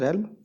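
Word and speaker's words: realm: ठीक है, दोबारा बताता हूँ, रेल्म इसका प्रोनाउंसिएशन होता है रेल्म, और इसका मीनिंग होता है क्षेत्र होना, फील्ड होना किसी चीज़ का।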